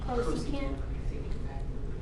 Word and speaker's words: cosecant: Well, just how do you pronounce that? Oh, cosecant.